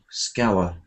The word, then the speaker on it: scour: to scour uh and the pronunciation is scow scour so to search in